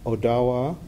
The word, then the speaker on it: Odawa: you are part of Odawa some Americans will have seen that spelled like Ottawa but it's Odawa you would say and Lota and